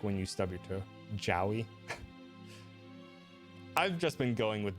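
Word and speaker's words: Jowy: quarter of a second you pronounce it Joey rhyming with the noise you make when you stub your too Joy I've just been going with Joey just because I don't know JY doesn't seem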